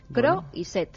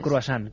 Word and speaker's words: Croiset: Croiset. Gerard, como suena, Croiset, no es. croissant, como decía Alberto.